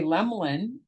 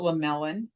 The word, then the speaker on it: Lemelin: But when I say Lemlin and I spell it Lemlin, people get it. With the E in the middle, they don't get it. They don't know what to say. They call it Lemelin or Lemelin.